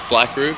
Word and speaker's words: Phly Crew: It's just Phly Crew, but spelled with a PH.